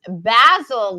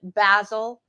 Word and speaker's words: basil: she said and she goes basil love that pronunciation right the English pronunciation basil and then what was